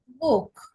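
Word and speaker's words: Buch: তারপরে হচ্ছে বুক, ইউর পরে সিএস আছে, এটা খ হয়ে গেছে বুক।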